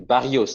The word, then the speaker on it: Barrios: Boca, qui a été Barrios, non, Ah, excusez-moi. B-A-2-R-I-O-S. Il n'y a pas de L. Excusez-moi. Parce que Excusez-moi. s'il y avait des L, j'aurais prononcé Barrichos.